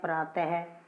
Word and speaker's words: प्रातः: जैसे बोलते हैं प्रातः, इसकी साउंड किसकी तरह होती है, ह की तरह होती है।